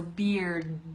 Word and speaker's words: beard: same thing Ricardo but you have that hard D sound at the end so beard do it okay and